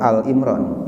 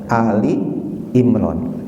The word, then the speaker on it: Ali Imran: Ali Imron harganya 188 Ali Imron bacanya kadang-kadang ada yang macam surah alimron itu salahnya jadi yang benar adalah ini Ali Imron Bedanya apa tolol mengatakan